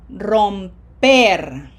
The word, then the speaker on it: romper: Romper. Long vowels and emphasis on the red syllable. Number one.